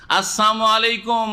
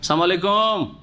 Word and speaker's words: আসসালামু আলাইকুম: তারা বদ্ধ অভিশাপ দিত তাদের যে কেউ বলে আসসালামু আলাইকুম কি বলে সাম মানে হচ্ছে মউত সম মানে হচ্ছে হচ্ছে মৃত্যু। আসসালামু আলাইকুম। মানে আপনাদের মৃত্যু হোক। আসসালামু আলাইকুম। মুসলিম সমাজে আজকাল জাহেল কিছু আছে। সালামু আলাইকুম।